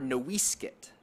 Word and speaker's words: NoiseCat: Some names, like the last name I carry, Noisecat, or Nowiskit, as it was originally pronounced, mark descent and relationship to ancestors.